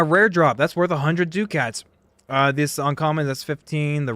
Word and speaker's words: ducat: We're hoping to get some rare drops, because rare drops are worth 100 ducats, and like I just don't know how to pronounce that.